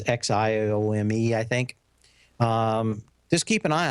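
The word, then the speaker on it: Xiaomi: a big company like show me which is spelled with an X so if you ever see it it is Xiao Mei think just keep an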